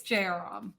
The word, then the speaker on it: Jayaram: What's the correct pronunciation of your last name? Apologies for that. That's okay. It's Jairam.